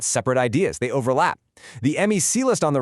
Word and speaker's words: MECE: This concept, MECE, you pronounce it MECE, is a non-negotiable golden rule.